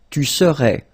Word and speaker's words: serais: Remember, so AIS, but then you don't pronounce the final S. Je serai. Same rule here, no pronunciation of the final S. Tu serais.